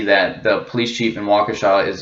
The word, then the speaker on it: Waukesha: the chief of policing Waukesha is how you say Waukesha not wakisha or how everyone else is saying it's pretty funny